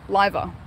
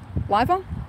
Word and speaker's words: Liver Building: Oh, Liver. Liver? Liver building, is that correct, Zan? Liver building, as in lie.